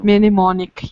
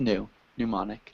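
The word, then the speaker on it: mnemonic: we say that pneumonic nimonic yes minimic device no no no no no just new pneumonic pneumonic okay m is silent pneumonic M okay okay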